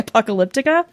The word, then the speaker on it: Apocalyptica: It's Path by Apocalyptica. Did I pronounce that right?